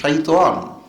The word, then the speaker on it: শাইতান: আচ্ছা, প্রথমে বলি, আমিও শয়তান বলছি, আসলে কিন্তু এটা শয়তান নয়, এটা শাইতান। আউযু বিল্লাহ মিনাশ শাইতানির রাজিম।